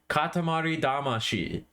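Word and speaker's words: Katamari Damacy: was localized into English they spell it Katamari damasi d m a c y it's damashi in Japanese it's da a m a sh I in Japanese Katamari damashi for some ungodly reason when they brought it over to America they changed the last syllable so that it reads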